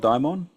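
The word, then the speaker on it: δαίμων: I'm just wondering, how do you pronounce that when you got, you say Deha Daemon? Is that how you pronounce it? Yeah, the hot daimon.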